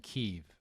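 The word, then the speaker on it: Kyiv: instinct here uh and i think most major media outlets at least here in the us are now saying keeve you know because it's the way the ukrainians pronounce the capital's name okay so that we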